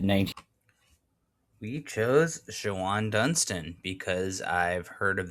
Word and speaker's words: Shawon: getting older pronounce it Shawn sometimes. Shawon, guys. Come on. Like it's clearly like there's an O in between the W and the N.